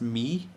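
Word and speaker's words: Mii: Okay, the next student was, I believe it's pronounced me, M-I-I, and this student suggested belongings.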